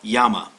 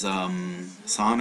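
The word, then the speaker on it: 山: Now you're going to hear it pronounced as san or zan.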